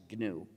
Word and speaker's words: GNU: But when it's the name of our system, please pronounce it with a hard G. Pronounce it GNU.